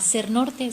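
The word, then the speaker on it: Sernorthe: sociales, Instagram y Facebook, @sernorte. Sernorte se escribe con H entre la T y la E, como si fuera en inglés North, pero es realmente Ser Norte, que todo el tiempo,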